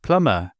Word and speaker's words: plumber: And what about the B in the word plumber? Sometime during the Middle English period of the 12th to 15th century, pronunciation changes saw words like lamb, climb, and plumb lose the B sound, but not the spelling.